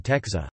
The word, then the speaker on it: tęcza: For example, A in dab, oak, is pronounced M, and E in texa, rainbow, is pronounced N.